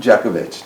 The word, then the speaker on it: Jeckovich: Good evening, John Jeckovich. Did I pronounce that right? Yeah.